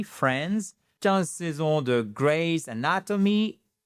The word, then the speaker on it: Friends: Résultat, 10 ans de Friends, sans prononcer le i, Friends, 15 saisons de Grey's